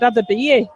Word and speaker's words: Adebayo: I think I've been pronouncing his name wrong because the announcer here at Bower Falls just said Adebayo.